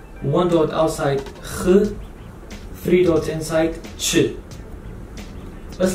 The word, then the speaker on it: خ: If there's one dot above the letter, it becomes kh. Kh. One dot, kh.